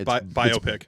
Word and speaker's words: biopic: that's biopic yeah uh it's pronounced biopic by opaque but i think it's